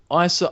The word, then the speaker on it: Asa: ASA ASA butterf sorry Isa Isa Butterfield PR is spelled like ASA it's weird but it's Isa Isa Butterfield um has been announced